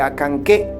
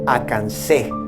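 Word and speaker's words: Acanceh: claro es el del nombre del pueblo de acanqué que el que no conozca la regla correcta pronuncia a cansé es suficiente comprender que la c siempre se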